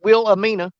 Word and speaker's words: Wilhelmina: Wilhelmina. That's the way it's spelled. But the H is silent. It's Wilhelmina, Missouri.